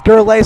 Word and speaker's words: Gurley: I'm just figuring out that I've been pronouncing his name wrong all game. There's a little subtext here telling me it's Gurley.